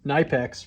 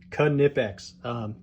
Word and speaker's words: Knipex: gonna know what it is we're looking at canipex um which i mistakenly had called nypex for most of my life until someone at